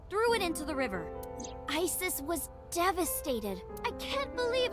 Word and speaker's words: Isis: just dancing so about asap horace's mom is named isis but in ancient egyptian it's pronounced closer to isa or asa hmm how do i